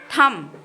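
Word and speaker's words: thumb: ठीक है इसके बाद बनेगा थम देखिए मैं बी नहीं बोल रही हूं स्पेलिंग में आप बी लिखोगे लेकिन बोलोगे नहीं इसके बाद बनेगा थम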